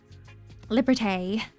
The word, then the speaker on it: Liberté: Liberté is probably how you pronounce it, because they've got the little accent above the E.